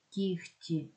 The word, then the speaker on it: кігті: зі з буквою г буква г уподібнюється до х уподібнюється тобто глухий ти впливає на попередній і робить його глухим то г стає хи кігті нігті легко вогку що ж таке